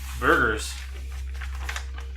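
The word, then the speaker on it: Burgher: Burgers. Burger. Alistair? And I pronounce like you eat it.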